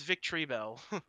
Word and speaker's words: Victreebel: victory bell and victory victory bell yeah it's victreebel if you say victor bell it's like i